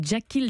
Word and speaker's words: Jakhil: photo aussi, on vous conseille vivement de taper Jackil Jackson dans un moteur de recherche sur internet. Jackil, ça s'écrit J-A-K-H